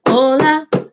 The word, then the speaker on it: hola: Ok, escriba hola. Pero ese concepto es importante. So please write hola and hello. This is importante because la H en español no se pronuncia.